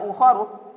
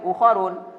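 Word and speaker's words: أُخَرُ: tidak dengan kasrah dan cara baca ujungnya tidak boleh di tanwin dalam mahal rofa akan dibaca ukhori tidak boleh ukarun dalam hal nashab akan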